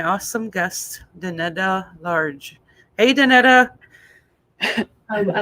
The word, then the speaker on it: Donita: creative i like it it's danita it's really close though that's cool too danita